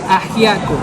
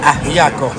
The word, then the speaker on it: ajiaco: ¿Cómo se pronuncia? Ajiaco. Ajiaco.